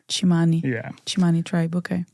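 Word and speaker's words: Tsimane: Quindi, sì, la tribù che ho visitato in Bolivia si chiama la tribù Chimani ed è scritta T S I M A N E, ma si pronuncia come Chimani, tribù Chimani.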